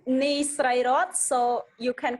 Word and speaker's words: Sreyroth: pronounce it very well that's right can you pronounce it uh my name nice ray rod so you can call me yes